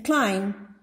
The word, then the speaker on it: climb: In climb, B is silent.